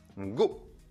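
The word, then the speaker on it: 五: sam quatrième chif 4 shi 5e chiffre 5 go 6e chiffre 6 rocco 7e chiffres cette 7ème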